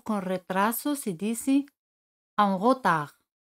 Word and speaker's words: en retard: Tarde o con retraso se dice en retard. En retard. D al final no se pronuncia.